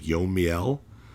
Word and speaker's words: Yomiel: how you pronounce it it's not like y the I and the E so it's like yomiel I don't know oh look